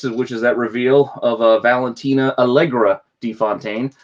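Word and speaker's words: Valentina Allegra de Fontaine: Issue 6, which is that reveal of Valentina Allegra DeFontaine. Now I got the name right. I was saying it wrong in the last video.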